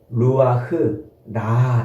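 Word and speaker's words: רוח: 이런 의미가 아니고 요게 좀 어 어려운 단어이긴 한데 악한 영 할 때에이 히브리어 원어로 루아흐라 이렇게 발음해요.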